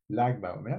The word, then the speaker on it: Lag BaOmer: Lag Baomer, ça se prononce.